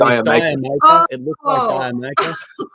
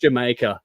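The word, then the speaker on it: D'yer Mak'er: It looks like Diamaker, but it's pronounced Jamaica.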